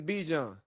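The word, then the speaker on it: Bijan: is Be John is if your name is spelled B I J A N, your name is Be John. Even if your mama wanted you to be Bon, everybody calls you B.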